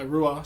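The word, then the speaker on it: Ruadh: uh the album sovereign by rua spelled r-u-a-d-h check it out awesome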